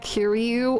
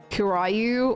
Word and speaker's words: Kiryu: I do enjoy, like, Kiryu or Majima pronounced wrong, like Kirayu or Majima.